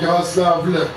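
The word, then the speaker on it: Yaroslavl: Faites attention ici en Russie, on ne prononce pas la lettre L à la fin du mot Yaroslav pour éviter la confusion avec un nom masculin Yaroslav sans L.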